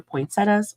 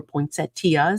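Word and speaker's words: poinsettia: striping and snow flurries you've got your poinsettas or poinset tea however you want to pronounce it yeah um and you've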